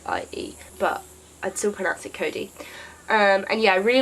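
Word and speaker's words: Codie: like that because he thinks it should be pronounced Kodai because like you spelled I di II but I'd simple exit Cody and yeah I really like Ray for a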